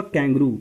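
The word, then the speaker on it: kangaroo: तो ये हुआ कैंगरू। कैंगरू इंग्लिश प्रोनाउंसिएशन इसका हुआ कैंगरू।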